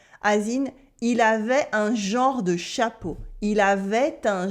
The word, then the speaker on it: genre: You can pronounce it with the nasal en of genre, genre, genre, or with the o like genre. People say it either way. I say genre with the nasal en.